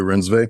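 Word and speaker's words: Reinsve: daddy issues through his his female muse Renate Renvi. Is that the right pronunciation? Renate Rensve. Renate Renve.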